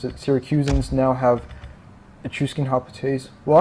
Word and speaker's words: Syracusan: hes the syracusan there yeah that's how you pronounce it syracusan now have Ausin Hotes well actually they always